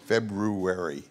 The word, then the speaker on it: February: It's spelled, and you never say that U in it, February.